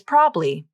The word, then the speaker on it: probably: the difference probably probably you can pronounce it as two syllables probably and in this pronunciation the middle a is dropped from the pronunciation or you can pronounce